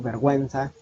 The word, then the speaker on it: vergüenza: Se utiliza diéresis sobre la vocal U de las palabras y, de las sílabas Y y Y cuando queremos que la U se pronuncie, pingüino, vergüenza.